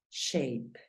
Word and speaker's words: shape: la a Mírala acá el sonido de la a es e por lo tanto la pronunciación de esta palabra es shape y significa figura shape es muy sencillo no